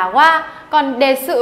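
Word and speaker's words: は: ý cho các bạn Đấy là qua viết là 2 nhưng đọc là hoa còn đề sự ở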